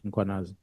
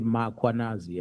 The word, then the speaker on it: Mkhwanazi: ask them to pronounce Mkhwanazi, they will put an A after M. They will say Mkhwanazi, and there's no A, it's Mkhwanazi, MKH.